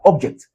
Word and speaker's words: object: Where do we have the stressed syllable? Object. So, we pronounce it as object.